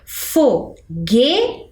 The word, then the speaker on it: foguete: eu faço a pronúncia Qual das sílabas é a mais forte Vamos pensar fogete temos três sílabas e a sílaba com maior pronuncia é o g Então olha quando eu